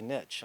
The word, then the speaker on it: niche: what whatever your nich niche niche niche niche Americans say niche I say niche I'm Canadian yeah um make that